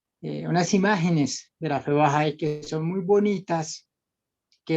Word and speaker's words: Bahá'í: Urantia, que se llama, si lo pronuncio mal, por favor me corriges, la fe Bahá'í. Me dices, Sí, me señor. cuentas muy de la mano. Sí, le dijiste bien.